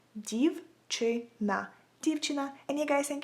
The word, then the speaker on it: дівчина: So if you want to say a girl in Ukrainian, you would say it like дівчина, дівчина, дівчина.